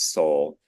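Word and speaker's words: Soule: um this weekend and that's that's the correct pronunciation is soul I very much appreciate that thank you that's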